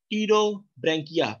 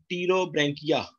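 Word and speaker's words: Pterobranchia: Second is the class टीरोब्रैंकिया, P silent, टीरोब्रैंकिया।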